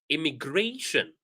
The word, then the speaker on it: immigration: So for words that end with shin, we stress the syllable right before shin. For example, information. So if I'm using my pencil, I can say information, innovation, immigration. All right. So whenever we have the syllable before shin, we stress that syllable.